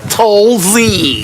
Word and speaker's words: Tolzien: Scott Tolzien.